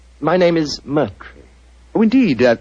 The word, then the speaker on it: Moriarty: I'm afraid I'll have to begin calling it the way it looks. M-O-R-I-A-R-T-Y.